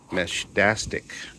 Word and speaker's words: Meshtastic: So we are start of in a row today, looking at other devices, and this one is the Meshtastic. That's how it's pronounced, Meshtastic kit.